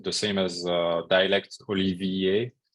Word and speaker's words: Olivier: same as a dialect holy VA uh that's the way you pronounce my first name uh because people couldn't